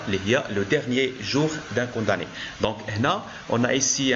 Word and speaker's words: condamné: jour d'un condamné donc là on prononce condamné on ne prononce pas m un condamné très bien donc pour